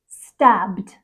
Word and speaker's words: stabbed: we have stab stab the word stab ends in a voiced B sound stab becomes stabbed stabbed next we have judge